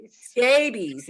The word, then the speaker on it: scabies: Scabies rhymes with, yes.